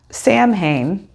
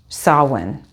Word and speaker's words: Samhain: here for sawin and did you know that Sam Hayne that we all think of when we see it written on the page for Halloween and the Day of the Dead on November 1st is actually pronounced sawin and I found that out a few years